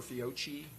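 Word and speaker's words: Fiocchi: Or Fio or Fiochi depending on how you pronounce it.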